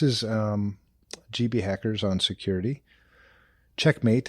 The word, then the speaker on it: checkm8: Checkmate, and it's spelled CHECKM8, the number 8.